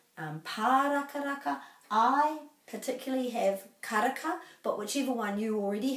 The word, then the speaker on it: karaka: So there's no macrons, so it's karaka. Karaka. And the ra is rolled.